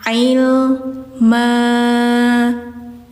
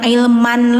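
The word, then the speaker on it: علما: Jadi bacanya jangan ilman lagi ya, tapi ilma gitu.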